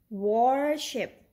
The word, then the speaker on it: worship: Then this word is worship. Worship, no, it doesn't sound correct. So let's pronounce it like this. Worship or worship.